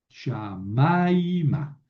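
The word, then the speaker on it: שָׁמַיְמָה: Shamaima, Shamaima. Aquí pongo el acento y hago un diptongo.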